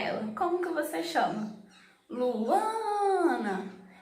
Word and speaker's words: Luana: Luana. Então percebe que quando eu estou chamando Luana, a sílaba mais forte é o A, Ana. Então a sílaba tônica do meu nome é o A.